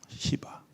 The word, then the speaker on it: 시바: 그 시종의 이름이 뭐냐면 발음을 주의하셔야 되요 씹 와 예요 시바 그러면 제가 뭐 질문을